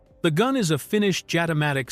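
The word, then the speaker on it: Jatimatic: The gun is a Finnish Jatomatic submachine gun, pronounced ja-timatic, which was developed in the late 1970s and early 1980s by a Finnish inventor named Jali Timari.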